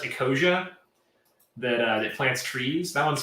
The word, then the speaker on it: Ecosia: Oh, there's one called, I think it's pronounced Ecosia, that plants trees. That one's fun too. Ecosia.